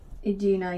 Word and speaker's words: Iduna: top list car in mother iduna that you pronounce her name aduna iduna yeah that's Anor and Elsa's mom again sticking